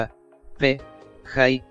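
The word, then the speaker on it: ApJ: gernal El diario astrofísico cuyo acrónimo en inglés es a PJ y se pronuncia a p Hi es una revista científica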